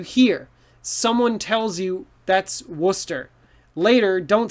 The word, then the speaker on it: Worcester: up if you look trust your eyes you might say warcaster but no this one is worcester so we have all these letters it goes down to two sounds worcester so worcester just ignore